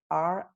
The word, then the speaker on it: Riewald: And my surname is Riewald.